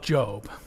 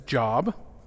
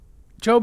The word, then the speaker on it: Job: Job even if they might occasionally mispronounce it as job job is a book that